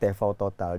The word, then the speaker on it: TV total: TV total bahasa Jermannya tvo Total jadi Oke di eh dipronounce dalam bahasa Jermannya tfau total itu 2007 Oktober sampai